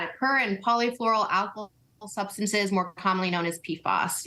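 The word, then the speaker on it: per- and polyfluoroalkyl substances: I'm sure I'm mangling the pronunciation. Per and polyfluoroalkyl substances? Yeah, you got it. Per and polyfluoroalkyl substances, more commonly known as PFAS.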